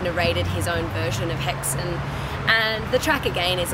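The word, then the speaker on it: Häxan: that's in the works right now it's called haxon or hexane if you pronounce it right and uh it means witches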